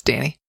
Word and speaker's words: Dani: He mispronounced my name. Oh. It's Dani.